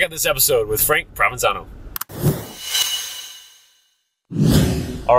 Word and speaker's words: Provenzano: that's right provenzano Prov I say provenzano uh it's really provenzano my wife always gives me heck about your own name yeah I pronounce it wrong why would you do